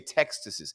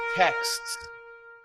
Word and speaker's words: texts: How do you say texts? It's text. How many people do you know who say textuses? It's not textuses. You're not from textuses. You don't have any. It's texts.